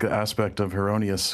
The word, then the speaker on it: Heronius: like an aspect of Heronius, who he kind of pronounces it as Eronius, because that's how the guy said his name in the vision, but it may be